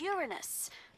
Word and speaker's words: Uranus: jokes about Uranus besides the proper pronunciation is Uranus it's a dactyl sorry Friday hey I'm